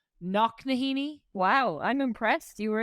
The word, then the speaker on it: Knocknaheeny: You grew up in a town called Knocknaheeny? Wow, I'm impressed. You were able to pronounce that like perfectly. That's true, yeah. Knocknaheeny.